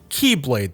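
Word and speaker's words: χ-blade: For the record, that's spelled Keyblade, this X being the symbol for Chi, or Ki as it could be pronounced, hence Keyblade.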